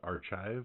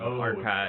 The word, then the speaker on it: arXiv: Their name, by the way, I believe is Archive. It's a pun with the Greek letter chi. So it's like archive, but chi.